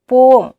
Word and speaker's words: poem: वैसे बच्चों, पोएम की सही प्रोनाउंसिएशन होती है पोम, but I also won't feel comfortable with it, so don't mind, okay?